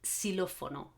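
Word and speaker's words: silófono: that it's strong exactly another pronunciation of this x it's like it's like a s and that's what's going to happen when you find it at the beginning of a word so you've got the word silofono silofono in english you would pronounce this xylophone and you would do like a z xylophone in spanish this sound does not exist in spanish nobody does okay it's so it's silofono okay so two possibilities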